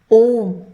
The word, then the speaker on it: ओम: सबसे पहले हम पहले अक्षर को लेते हैं जो कि ओम यह है।